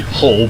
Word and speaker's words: Hull: It's the name of the city, Hull, because the letter H is never pronounced.